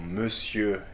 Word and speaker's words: monsieur: So like blanc or monsieur, here the final consonants are not pronounced, okay?